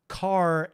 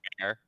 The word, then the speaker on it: char: Ben was alluding to as well, is that char and U32 are now guaranteed to be ABI compatible. You say char? Char, I say care.